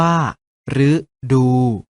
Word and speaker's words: ฤดู: หรือ กัน นะ ครับ รึ อยู่ หน้า คำ เช่น ฤดู ออก เสียง ว่า ฤดู รึ ตาม หลัง คอ